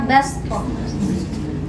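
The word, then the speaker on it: بصطة: Ya baskoh, jadi huruf sodo diganti menjadi huruf sin ya, jadi bacanya baskoh.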